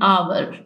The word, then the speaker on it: hour: First, Sarah had returned after an hour। अब H consonant है, इसके साथ A लगाना चाहिए था, लेकिन जैसे कि H साइलेंट है तो O को देखते हुए इसके साथ N लगाया गया है।